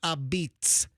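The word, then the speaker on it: apizza: A pizza or or they they like to pronounce it a beat.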